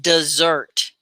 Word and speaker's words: dessert: lunch yeah yeah maybe desert dessert that's it's pronounced dessert dessert it's different than desert right it has